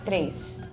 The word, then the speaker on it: três: Oh, for us, when we say the word, we don't have an I, but for some reason, at least in my accent, when I pronounce it, it sounds like there's an I. So I say três. So kind of like ace a little bit, even though there is no I. It's not old Brazilian like. Yeah, I think some other parts they might pronounce it tres, but where I'm from, it's like três.